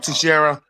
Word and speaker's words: Teixeira: Mark Texeira. Mark Uh, Teixeira.